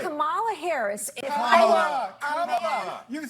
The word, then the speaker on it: Kamala: Let's start, Lefties, with this almighty group meltdown on CNN because Nancy Mace allegedly mispronounced Queen Kamala's name. Watch this demented carry-on. And right. Kamala Harris, if Kamala.